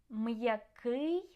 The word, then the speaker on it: м'який: Okay, so try to pronounce these words, and you can hear that the apostrophe helps to keep the sounds separate and clear.